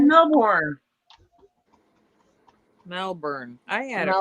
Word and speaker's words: Melbourne: said Melbourne. Melbourne. I had Mel- it right. Melbourne. I can't roll my R's or anything, and that's like a rolling R thing.